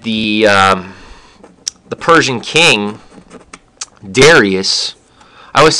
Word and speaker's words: Darius: um the Persian king Darius I always thought his name was pronounced Darius but as I was watching the movie they kept saying daras and so and then